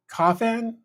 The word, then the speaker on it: Kafan: It's pronounced like coffin, but an A instead of an I. So Kafan, I think is the correct pronunciation.